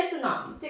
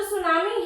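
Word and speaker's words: tsunami: Japan ने जो है ये वर्ड दिया था और इसमें जो टी होता है वो साइलेंट रहता है। ठीक है? जब इंग्लिश में इसको लिखते हैं तो ऐसे लिखते हैं। इसमें टी साइलेंट रहेगा।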